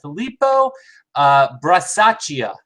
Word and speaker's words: Filippo Brasaschia: Tonight's session, a very cool session about Prima Luce Labs by Filippo Brasaschia, I believe it's pronounced.